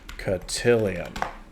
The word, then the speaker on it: cotillion: But how to say cotillion. Let's hear it. Cotillion. Okay, so I am pronouncing that correctly, I believe.